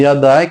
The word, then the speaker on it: Iadai: Se não fosse isso, também no português seria Iadai. Então vou apresentar aqui esse nome Iadai, que tem como prefixo a forma IA.